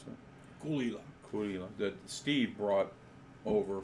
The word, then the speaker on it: Caol Ila: So we used to have a Caol, is that how you pronounce it? Gulila.